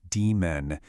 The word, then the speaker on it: daemon: And by the way, it's pronounced demon.